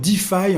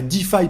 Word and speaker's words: DeFi: Tu as sans doute déjà entendu le terme Deffi en crypto. Ça s'écrit de E F I.